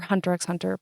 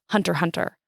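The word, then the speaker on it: Hunter × Hunter: Um I or Hunterx Hunter by Yoshiro Tagashi. So caveat, I call it Hunterx Hunter. I learned that I've been saying it wrong my entire life. It's just Hunter Hunter.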